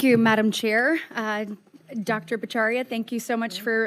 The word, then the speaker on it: Bhattacharya: Bacharia, thank you so much for Or how do you say it? Say it for me. I say Bacharia, but my cousins think I don't know how to pronounce it, Senator.